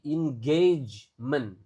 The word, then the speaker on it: engagement: A-nya dibaca kayak e engagement.